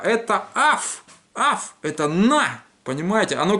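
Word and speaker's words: אויף: То есть вот это заумное ойф, которое вы читаете, за это дам по губам. Это только аф.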